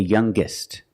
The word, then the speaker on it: youngest: When we change these adjectives with er or with est, we're going to pronounce the g sound, the hard g. So it's younger, with a g sound. Stronger, the youngest, again with the g sound.